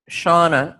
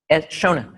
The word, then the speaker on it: Shona: Now, the other thing, and I think Shauna, it's Shauna, right? Shona. S-H, I know how to spell it, S-H-O-N-A, Shona.